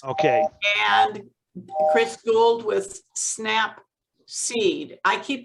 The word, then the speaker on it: Snapseed: you snap seed yes as in snap peas but snap seed seed yes oh seat